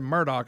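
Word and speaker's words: Murdaugh: me too me too the first time I ever said I had said Murdoch I said that's not murder like that's murdered all the way it's spelled and then instead of Alex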